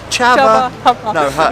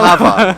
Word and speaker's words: Chava: Loverman, Chava. No, Hava. I think the C is silent.